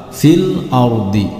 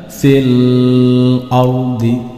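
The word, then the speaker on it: في الأرض: Di sini ada huruf lam berharokat sukun, maka ketika membaca huruf lam berharokat sukun tidak boleh dipantulkan dan tidak boleh didengungkan. Contoh dipantulkan fil ardi, tidak boleh. Contoh didengungkan fil ardi, juga tidak boleh. Di sini harus jelas fil ardi, seperti itu.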